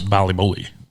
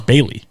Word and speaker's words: Bailey: But yes, Bali Bully.